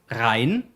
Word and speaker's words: Rhein: It's Rhein, then you have Weser, and then you have August von Pasewalk. So Rhein, Weser, and August von Pasewalk.